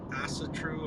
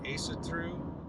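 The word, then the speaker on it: Ásatrú: There's the term asatru or asatru, depending on what pronunciation guide you abide by, which just basically means trust in the Aesir.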